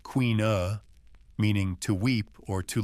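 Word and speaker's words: caoineadh: This practice known as kaad pronounced queen uh meaning to weep or to lament was not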